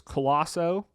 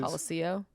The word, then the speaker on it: Colosseo: It is Colosso, which is Colosseo.